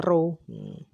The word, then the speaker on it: rho: Nah, kemudian hambatan jenis kawat atau rho ya, masih ingat ya, ini lambang dibacanya rho.